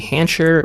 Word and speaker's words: Hancher: here today with hancher rhymes with Jolly Rancher that is how she told me to remember the pronunciation and she is the